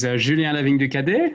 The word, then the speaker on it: Julien Lavigne du Cadet: for us, which I think you're going to pronounce a lot better than I can. Sure. Hi, everybody. So my name is Julien Lavigne du Cadet, and I'm a VP of Engineering at Zoe.